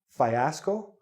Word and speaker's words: fiasco: Now this, you're thinking, fiasco? Fiasco? No, it's fiasco. Again, the E. Fiasco. 3 syllables.